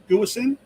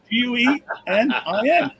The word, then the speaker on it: Guenin: For the Flyers, we have Nate Guesin. You didn't even spell it right. Guenin. Guenin. We know. Where did the S come from? There was an S in there when you pronounce it, John.